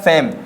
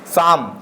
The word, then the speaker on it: same: सेम, SAME, सेम। क्या पढ़ेंगे इसे? सेम पढ़ेंगे। क्लियर हो रहा है, ना कि शाम।